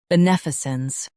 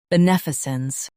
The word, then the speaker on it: beneficence: B, nef, I, sons, beneficence. Stress nef and keep sons soft.